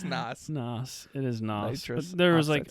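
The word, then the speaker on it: NOS: Everything back in this era was spelled like with the letter X. Right. Like Nas. Or Z. Is it Nas? It's Nas.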